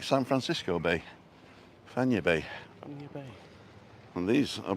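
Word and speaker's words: Fañabé: And then the one beyond that is Playa Fanya Bay. And it's not Fanabe or Fanyabe. It's like San Francisco Bay, Fanya Bay.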